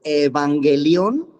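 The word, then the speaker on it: εὐαγγέλιον: batalla el evangelio así se escribiría así se pronuncia evangelion era una persona comisionada para ir al pueblo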